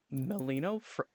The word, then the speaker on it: Melino: I am joined by Melino. Is that how you pronounce it?